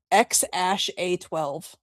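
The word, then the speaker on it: X Æ A-12: So, Uh, what the Oh, that said, uh, Elon pronounces it X ash A12.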